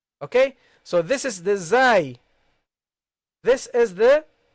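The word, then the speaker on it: ز: Okay, and in some countries they pronounce all these letters the same. You see, the dhal and the zai and the va, all they pronounce it as a zai, and that's not the case.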